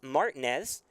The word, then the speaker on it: Martinez: name in south texas used to hearing martinez as the pronunciation i know we had some comments after jack came in for the first time but it is martinez and that's the one